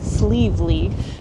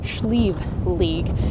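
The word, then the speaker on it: Sliabh Liag: In English, it's usually pronounced Sleeve Lee, but here in the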